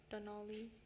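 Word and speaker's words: Donally: I just want to make sure you weren't saying like with it like Denali like the park.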